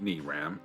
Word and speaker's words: Miram: the English word molar Miram is pronounced knee Ram as in the English word me followed by the English word Ram see that is a